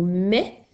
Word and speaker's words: mais: On a le mot mais qui s'écrit MAIS. Alors tu as aussi dans le mot mais le son E qui s'écrit AI.